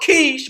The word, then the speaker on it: Kish: Now it's pronounced Kish, but we understand that's Cush.